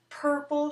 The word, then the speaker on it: purple: Purple shirt. Purple shirt. That's that special American R sound as we call it or purple. Very different from other languages that use an R sound where most other